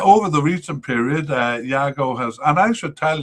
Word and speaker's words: Yago: uh trying to figure it out from the pronunciation it's a little difficult. Hago started 10 of their 18 games from the uh over the course of this period.